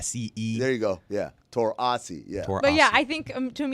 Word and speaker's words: Taurasi: Yes, you type it like that, and that way, even if she mispronounced it as Taurasi, that's still closer than. Give me an Taurasi. AH, then an SEE. There you go. Yeah, Taurasi.